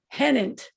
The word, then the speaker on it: Hennent: think they're related but they pronounce their last name hennent like rhymes with pennant so i decided to